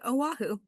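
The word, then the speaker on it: Oahu: And for anyone wondering, it's pronounced Aahu um of how you pronounce that that island.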